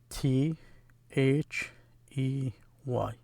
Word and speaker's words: they: This is small letter T H E Y. The way it's pronounced is they. The TH together becomes like a they.